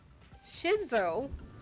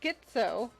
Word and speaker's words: schizo: Shizo? What the hell Is it because Genocide Jack has a split personality? like, Huh? is that? I think I read that somewhere in the file too. It's pronounced schizo.